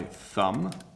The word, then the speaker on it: thumb: You can see my tongue comes out a little bit.